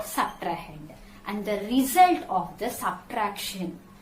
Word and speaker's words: subtrahend: S-U-B-T-R-A-H-E-N-D. Subtrahend. Okay. The second number, which number you are subtracting, is called subtrahend.